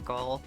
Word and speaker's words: Meechole: I keep like flipping my pronunciation. Like, I'm pretty sure it's supposed to be Mikol, but sometimes I still just do the the soft ch.